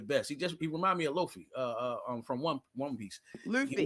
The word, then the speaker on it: Luffy: He remind me of Luffy, from One Piece. He Luffy. want, You say his name wrong too.